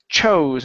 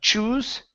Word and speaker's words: chose: okay let's go to the word chose instead of choose okay it's an o sound chose him to Star